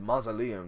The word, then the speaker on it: Mausoleum: That's it, Mausoleum. That's how you say it. 2 Mausoleum.